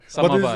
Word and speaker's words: samovar: Samovar.